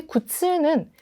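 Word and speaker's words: 苦痛: 어떻게 구별하시냐면요. 쿠츠까지만 말하고 마치 절벽처럼 이렇게 발음이 끊어져요. 그래서 아, 이건 짧은 발음이네. 근데 굿츠는 이렇게 길게 쭉 늘어져요.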